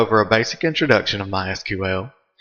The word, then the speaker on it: MySQL: As you can tell, I've been calling it MySQL. That is the correct pronunciation. However, it is also commonly called MySQL.